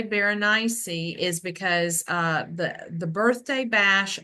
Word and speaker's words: Berenice: Well, if you're Southern, we pronounce it Bernice, but okay. Yeah, and so the reason why I say Berenice is because the birthday